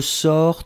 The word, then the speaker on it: sors: You will see that it's je sors, tu sors, il sort. Phonetically, it's the same. You write it S, S, and T.